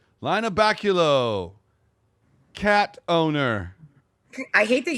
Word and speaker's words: Lynna Baculo: But in your case, it would be like, Lynna Baculo, cat owner. I hate that you mispronounced my name. Lynna Baculo. Well, didn't we go over that? That's what my car calls you, Lynna Baculo.